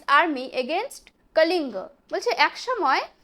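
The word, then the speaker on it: Kalinga: lead হ army against কলিঙ্গ একসময় সে কলিঙ্গর বিরুদ্ধে এটা ইংলিশে যখন উচ্চারণ করবে কালিঙ্গা কিন্তু যখন বাংলায় বলে তখন বলবে কলিঙ্গ তার বিরুদ্ধে একসময় একটা যুদ্ধে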